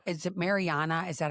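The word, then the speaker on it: Marija: It's not is it Mariana? Is that how you pronounce it in English?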